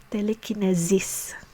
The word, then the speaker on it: telekinesis: Now, regarding the suffix kinesis, so the S is pronounced as a Z sound, so kinesis. So here are two examples. So telekinesis is telekinesis, and psychokinesis is psychokinesis.